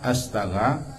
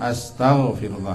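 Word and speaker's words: أستغفر الله: Yang pertama, astaga, bacalah sebenar-benarnya astaghfirullah 1.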